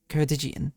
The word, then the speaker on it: Ceredigion: How to pronounce? Ceredigion.